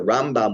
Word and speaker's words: Rambam: Rambam more, is the Rambam, we say Rambam with the accent on the first syllable, which is Mil'el, and Ramban and Milra, we put the accent on the second symbol.